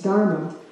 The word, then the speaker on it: Dharma: that has this Dharma, I said it wrong the first time, it's Dharma.